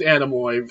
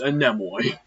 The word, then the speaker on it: Anemone: Also, it is not pronounced Anemone. Like, that's just how text-to-speech says it. It's Anemone.